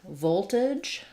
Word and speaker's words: voltage: We have a question about the word voltage. Voltage. So we have first syllable stress in voltage.